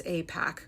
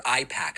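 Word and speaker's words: AIPAC: back as 2019 where Pac-Man can clearly capably pronounce Apac correctly. Apac uh Apac support Apac. A few moments later, outrageous claims suggesting that it's Apac or IPAC.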